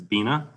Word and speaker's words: Binah: of the name and pronunciation of being a winery i'm marty has correct it's beena rhymes with tina um thank you all